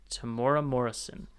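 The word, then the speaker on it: Temuera Morrison: he's going to appear and be played by Tamora Morrison.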